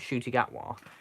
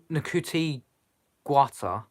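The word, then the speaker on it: Ncuti Gatwa: his name now I I kept saying it nakuti gwata because I had never heard of his name before but it's shooting atwa and it seems easier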